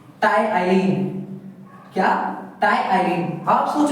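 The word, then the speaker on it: ptyalin: आप सोच रहे हो इसमें प है मैं इस पुना गलत कर रहा हूं लेकिन नहीं इसमें जो पी वड है वो साइलेंट होता है इसलिए हम इसे कहते हैं क्या टाइ अब देखिए जो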